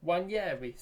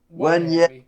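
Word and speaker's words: Nwaneri: And Declan Rice also assisted Ethan Wanyeri. Wanyeri, sorry, yes. Yeah, the N is silent. Yes, okay, yes, thank you. Ethan Wanyeri, there we go, yeah.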